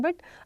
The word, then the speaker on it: bon: Please make sure this word BON वी आर not pronouncing it बोन, अलग से न नहीं है. Like when we write this word so there is नो न, separate न नहीं है यहाँ पे, there is just a nasal sound बोन, नाक से आवाज़ आएगी बो.